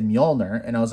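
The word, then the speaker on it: Mjölnir: thor cartoon growing up i always pronounce this as majolner right it wasn't until the thor movie came out and they said mjolnir and i was like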